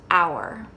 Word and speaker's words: our: u when they're together they will often make the sound of ow not all the time